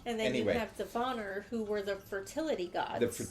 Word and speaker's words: Vanir: S-I-R, and then what I have deciphered as Vanir, V-A-N-I-R, which you pronounce as Vanir.